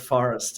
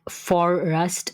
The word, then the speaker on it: Forust: We started Forest and it's been a great adventure, that's for sure. I must add Forest is spelled F O R U S T.